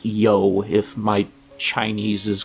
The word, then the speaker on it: You: As a matter of fact, uh we are now in It says U Province, but this is pronounced Yo, if my Chinese is correct, uh whoever originally